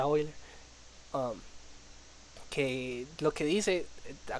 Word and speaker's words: Euler: Hay algo que se llama los ángulos de Euler o las rotaciones de Euler o Euler, pero se pronuncia Euler.